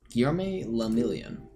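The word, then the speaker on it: Guillaume Le Million: meant only one thing guillerme lamilian if it doesn't rhyme you're not pronouncing your rights oh out of the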